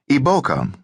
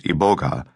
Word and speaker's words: Iboga: Iboka, also known as Iboga, the pronunciation that I will use from now on, is classified scientifically as Tabernantha ibogga and is a member of the Aposinesi dog bane family.